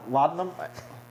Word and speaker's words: laudanum: Laudium? Yeah. Laudium? Laudanum.